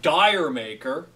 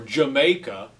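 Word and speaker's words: D'yer Mak'er: Days got the song Dyer maker or as it's actually pronounced digimaker or Jamaica which is like the English pronunciation the British pronunciation uh she comes from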